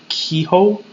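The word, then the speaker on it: Keough: That's how Kehoe. Yeah, that's how I pronounce her name.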